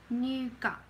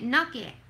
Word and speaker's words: nougat: Nougat. I call it nugget. It's nougat.